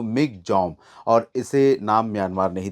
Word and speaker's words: Michaung: क्योंकि उसका अगर हम उसकी स्पेलिंग देखें तो मिंग था लेकिन उसे प्रोनाउंस किया जा रहा था अगर हम म्यानमार की भाषा में देखें तो मिक जम और इसे नाम म्यानमार